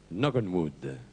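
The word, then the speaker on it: Knock on Wood: titre original de cette chanson de johnnyid est knockenwood le titre original de cette chanson de Johnny ALID est noenwood c note marqué faut prononcer no parce que le K devant le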